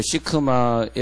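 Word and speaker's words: שקמה: 그때 우리는 돌무화과 나무에 올라갔더라 이렇게 읽지만은 히브리 사람은 그렇게 읽지 않고 히브리어 시크마에 올라갔더라. 그렇게 발음한단 말이에요.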